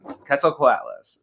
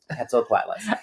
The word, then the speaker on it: Quetzalcoatlus: to go to YouTube and listen to the pronunciation like 27 times. Yes. Quetzalcoatlus. Quetzalcoatlus.